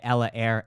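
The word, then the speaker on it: Ella Eyre: V E Love by Ella Air. Ella Air is spelled E L L A and then air E Y R E.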